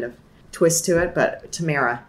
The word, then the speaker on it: Tamera: a weird kind of twist to it but Tamara right okay we're gonna dive into your work